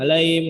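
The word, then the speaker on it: عليهم: Ya, jadi pengucapan huruf H pelan-pelan saja. Pengucapan huruf H pelan-pelan saja. Perjelas bunyi hanya hi dilatih. H sama i. Hi tambahin m, him, alaihim seperti itu.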